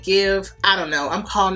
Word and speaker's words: GXVE: I also think you pronounce it give.